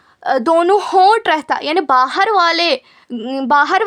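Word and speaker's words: ہ: हलक के नीचे वाले हिस्से से हलक के नीचे वाले हिस्से से ह अदा होता है। इट is pronounced from the bottom of the throat and the breath sheet go inside the throat.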